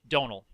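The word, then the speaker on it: Domhnall: is nowhere right but the MH in Irish makes a kind of well no it makes a small it sometimes makes a V sound so it's probably if you said it in Irish if there would probably be a little bit of a be like don't know maybe dono be kind of longer but look in English we just say Donal it's it's actually the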